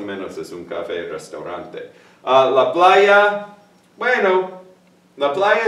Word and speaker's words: restaurante: Because all of my students, for some reason, want to say restaurante. But it's restaurante, restaurante, okay?